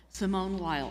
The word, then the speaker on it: Simone Weil: Simone Weil. I'm aware that that's the American pronunciation of her name, but I wanted everybody to know who I'm talking about.